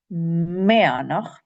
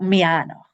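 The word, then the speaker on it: Meadhanach: The DH is a Y sound. Meanach. And the stress in Gaelic is always on the first syllable. Meanach. Not Mianach or something like that.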